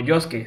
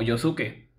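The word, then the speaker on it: Josuke: El nombre del protagonista es pronunciado como Yosuke, sin la U. Sin embargo, en otras versiones como la versión en castellano sí se pronuncia como Yosuke.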